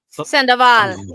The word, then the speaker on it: Sandoval: So pronounce it for me, so I don't mess it up. Sandoval.